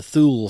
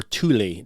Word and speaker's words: Thule: They called it the Thule Society, or Thule, depending on where you hear about this, how you pronounce it.